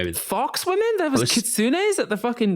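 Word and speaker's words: 狐: I know it's pronounced kitsune.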